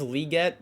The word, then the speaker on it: Legette: do want to say, I think it's Legette because I think he said that's how you pronounce it with like 2 E's at the first part.